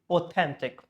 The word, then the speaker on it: authentic: Usual rule is they should be in the second one. Like here, authentic. So that this should be authentic.